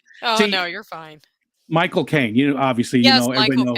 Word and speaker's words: Michael Caine: Michael Caine.